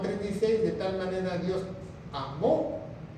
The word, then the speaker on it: amó: Dice Juan 3:16, de tal manera Dios amó, con acento en la O, que quiere decir pasado.